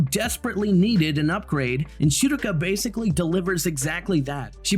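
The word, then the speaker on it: Schierke: I know a lot of people get it wrong and call her Shreek. In an American dialect, you would say Shirka. And in the Japanese pronunciation, it would be somewhere along the realm of Shiruka.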